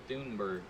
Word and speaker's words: Thunberg: I heard it's supposed to be pronounced Thunberg.